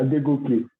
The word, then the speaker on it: Adegoke: Adegoke, is that correct? Yeah, Adegoke. Did I pronounce it right?